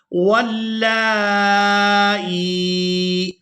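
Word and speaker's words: واللائي: بسم اللہ الرحمن الرحیم، واللائی یئسن من المحیض من نسائکم، واللائی، اس لفظ کے ہجے اس طرح سے کریں گے، واو لام زبر واللام کھڑی زبر مد لا، واللا، حمزہ یا زیر ای، واللائی۔ اب یہاں پر جو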